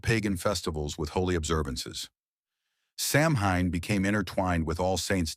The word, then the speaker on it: Samhain: Over 2,000 years ago, in the misty hills of ancient Ireland, the Selts celebrated a festival called Samhine, pronounced sewing.